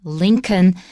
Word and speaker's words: Lincoln: that it's a abraham lincoln and we don't pronounce the l oh now abraham not